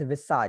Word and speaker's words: visage: इट is pronounced as विसाज, सर विसाज तो not as character होता है visage.